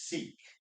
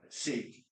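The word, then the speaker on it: Sikh: Um, Simanjit Singh um is sik. Um, a lot of people confuse uh seek. Actually, I think the right pronunciation is sick, but I feel weird saying sick.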